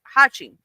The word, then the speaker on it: Hachi: formed a shape of a character which means eight and is pronounced Hachi.